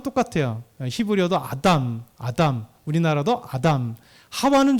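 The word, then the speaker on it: חוה: 하와는 좀 다릅니다. 히브리어는 하와, 그리고 바브가 W도 이렇게 보니까 이 독일어권이나 영어권이 약간 달라서 그래요. 그래서 그걸 V로 이렇게 발음돼요. 그래서 하와로 하기도 하고 하바라고 하기도 해요.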